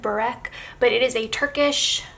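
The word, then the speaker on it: börek: have that we had boric for dinner which is I'm probably pronouncing it wrong I think it's more like Burak but it is a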